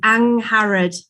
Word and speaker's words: Angharad: And yes, the pronunciation was very good, but it's a soft G, Angharad.